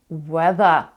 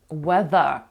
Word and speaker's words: weather: city Я люблю подорожувати їхати до міста нью-йорк weather погода weather weather weather тут два у нас звуки які тяжко українсь вимовляти TH We The в даному випадку TH